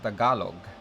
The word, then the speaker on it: Tagalog: Peter Popina says, I didn't know you speak Tagalog. It's actually pronounced Tagalog. If you take out the N, that is how you spell it.